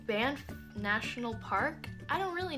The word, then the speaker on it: Banff: One of the girls on our sister channel is from Canada, and she did not pronounce it Banaf, which is how I was pronouncing it.